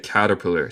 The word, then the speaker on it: caterpillar: Ruth, ¿cómo se pronuncia caterpillar? Sí, en inglés neutral sería caterpillar. Caterpillar. Pero los estadounidenses como yo, el T en el medio de palabra muchas veces suena como R en español.